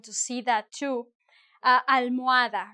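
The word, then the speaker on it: almohada: Uh, al- muada, right? Pillow. I'm not pronouncing the H.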